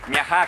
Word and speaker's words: Miajadas: Miajá, con acento ya en no la A, tenemos se más escribe tinta. Miajás, ¿vale? Y lo pronunciamos nosotros. Las S no las pronunciamos, las aspiramos, no las comemos, ¿verdad?